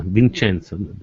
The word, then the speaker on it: Vincenzo: Vincenzo. No, try not to pronounce Vincenzo. La C, la C se pronuncia, no, it's pronounced T, Vincenzo.